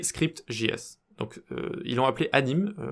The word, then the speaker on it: Anime: Donc ils l'ont appelé Anime, je crois que ça se prononce animé. Mais bon, bref, on va l'appeler Anime en français, comme ça ce sera plus simple à prononcer.